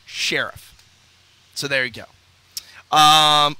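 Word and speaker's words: Scherff: the right pronunciation is Sheriff okay like Sheriff of the town and they said Brandon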